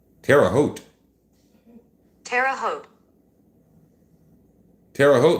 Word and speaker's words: Terre Haute: Terre Haute. Terre Haute.